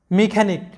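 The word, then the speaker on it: mechanic: মেকানিক, যেটার বাংলা অর্থ হচ্ছে মিস্ত্রি।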